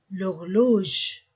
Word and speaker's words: l'horloge: Un H muet ou une voyelle. Donc, l'horloge.